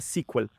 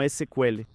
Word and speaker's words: SQL: el lenguaje SQL, ¿no?, que en inglés se pronuncia sequel, pero en portugués lo conocemos como SQL.